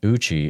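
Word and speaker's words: Eucha: Randy writes on 545 Northeast Oklahoma, Jeremiah Uchi is spelled E-U-C-H-A.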